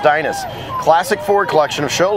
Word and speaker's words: Dynas: They're from Dynas, there it is, pronounced Dynas.